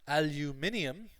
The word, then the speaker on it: aluminium: Aluminium is the EU, like the British-Irish pronunciation, and aluminum is the American-Canadian pronunciation.